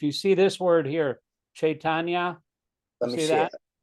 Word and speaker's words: Chaitanya: When you have a C like that, it's pronounced CH, even though it's not have the H in front of it. It's Lord Chaitanya, like choo-choo, you know. Okay, Chaitanya.